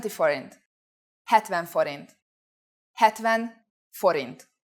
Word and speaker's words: forint: the Forin please pay attention to this word pronunciation Forin let's try to say prices in Hungarian start